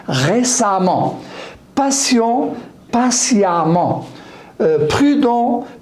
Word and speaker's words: patiemment: J'ajoute E2M ENT et je prononce A au lieu de E. Récent, récemment. Patient, patiemment.